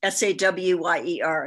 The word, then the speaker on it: Sohier: a challenge it's just it's pronounced as if it's spelled s-a-w-y-e-r so it's just sawyer like a like a wood cutter yes well we have